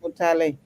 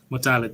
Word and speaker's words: Mutale: It's pronounced Mutale. Mutale.